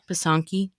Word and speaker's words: pysanky: Pysanky? It is number 6 in the Google Suggest list. How to pronounce? Pronunciation. Pysanky. You weren't that far off. You were actually really close.